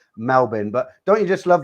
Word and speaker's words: Melbourne: say you know typical english people we say melbourne that's how it looks that's how it's propelled that's how it looks for us but obviously i'm saying it wrong and it's pronounced melbourne but don't you just love that name bigger